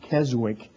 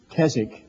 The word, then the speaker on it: Keswick: understand they've heard the word kzig sometimes they pronounce it Keswick but it's kzk by the way this was the first year